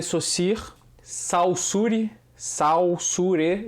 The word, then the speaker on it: Saussure: fernando é só seguir saussure saussure eu vou botar aqui como se escreve mas fala só seguir o cirque por um